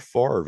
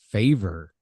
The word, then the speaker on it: Favre: The Atlanta Falcons select quarterback Brett Favre. That's right. Brett Favre. Which would be how you would pronounce it if you would look at it logically, because the R is after the V.